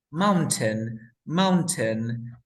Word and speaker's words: mountain: Mountain. Mountain. Es la pronunciación normal, ¿cierto? Ujú. Ahora, NT, sonido de vocal. Elimino la T, ¿cómo quedaría? Mountain.